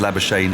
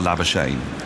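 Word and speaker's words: Labuschagne: la shane and it it is pronounced lava shane if you are lava shane he's decided that it's lava shane he doesn't doesn't care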